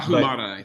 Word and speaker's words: Ahumada: Tristan Ahumada, Ahumada. I'm probably saying that wrong. Y'all probably know him better than I do. But Ahumada is how you say it.